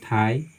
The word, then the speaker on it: thigh: उसी तरह से मान लीजिए और भी, ठीक है, जैसे थाई, टी, ठीक है, THIGH, हम इसको पढ़ते हैं थाई ओनली, जी एच यहाँ पे हमारा साइलेंट होता है, ठीक है।